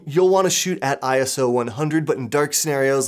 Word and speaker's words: ISO: The last portion of the exposure triangle is ISO, which some people will pronounce as a word, like ISO.